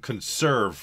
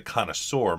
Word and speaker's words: Connoiseur: So a lot of people call it the conserve mod, which is, I think, is it's incorrect. I believe they're calling it the Connoiseur mod.